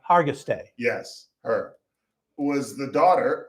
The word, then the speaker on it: Hargitay: that Mariska, I don't know how to pronounce this woman's name. Hargitay. Hargitay. Hargitay.